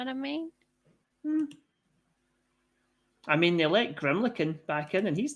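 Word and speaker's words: Grimalkin: m yep a l k i n it's pronounced grimlin grimlin okay there you go yeah it's based on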